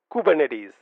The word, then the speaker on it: Kubernetes: interesting fact is the fact that kubernetes is pronounced as coup bur net is kubernetes kubernetes say that a few times practice this